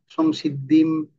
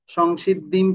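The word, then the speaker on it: संसिद्धिम्: তাহলে অনুষ্কার থাকলে কি হবে, ম উচ্চারণ হবে। আমরা বললাম না, সংসিদ্ধিম, ম, ম, পরমাম, ম, ম, ঠিক আছে, সংসিদ্ধিম পরমাম গতাহা, গতাহা, এটা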